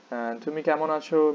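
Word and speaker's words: আছো: how is it pronounced it sounds like achoo means how are you so note that this a car it it can be pronounced as a or as a especially when the a is like when the consonant that has been combined with the a car is at the beginning of the word uh then it's usually pronounced as a and not a which means how are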